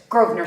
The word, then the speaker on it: Grosvenor: Grosvenor Square, but it's Grosvenor I Square.